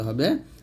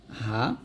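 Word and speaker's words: حاء: আসলো জিহ্বার মধ্যখান তার বরাবর উপাতাল সংজ্ঞা লাগে উচ্চারণ করতে হবে জিম এরকম ভাবে এই যে তারপরের হরফটা হা দেখুন এখানে সুন্দর করে বাংলা লেখা আছে হা তবে এটা কিন্তু হা এটা হা বলা যাবে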